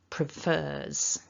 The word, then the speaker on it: prefers: preferred good and then the third person prefers with a z so we write it